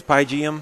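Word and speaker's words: Pygeum: How's that pronounced? It's Pygium. Pygium?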